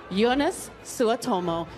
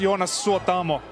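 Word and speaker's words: Jonas Suotamo: hello ladies and gentlemen yonas sua tomo hi how are you this evening I'm very good it's pronounced yonus or tomo you honest SWOT home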